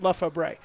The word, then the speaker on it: Lefebvre: It said it's pronounced Lefebvre. Hopefully it's his dad or somebody that's telling me that. And that may be what you say. We did the homecoming parade, and they had it phonetically spelled out and said Lefebvre. That's what it said.